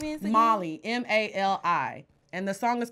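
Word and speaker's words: Mali: Molly.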